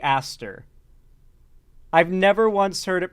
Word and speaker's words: Aster: There's no way it's pronounced Eister. I've always heard Ari Aster.